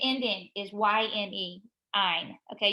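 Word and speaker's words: -yne: Ine. Okay, you pronounce it as though it's an INE, but it's a YNE.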